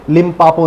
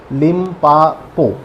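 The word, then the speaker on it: Limpopo: है, तो वो है लिम्पापो नदी। लिम्पापो या लिम्पोपा, ऐसा दो प्रोनाउंस बनते हैं इसके।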